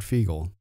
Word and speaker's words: Fiegel: And not only that, your founder, Richard Fiegel, am I pronouncing that right? You are, yeah.